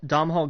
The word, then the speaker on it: Domhnall: Dom Hall Gleason.